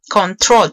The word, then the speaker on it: control: Control tiene dos sílabas, control. Y el acento está en la última sílaba, control.